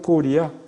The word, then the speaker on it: 고려: 코리아를 한국말로 하면 고리야. 우리나라는 고구려도 고려로 이름을 바꾸고 장수한 때 왕건의 고려도 고려인데 그 발음은 고려가 아니에요. 고려는 리가 돼요. 고리.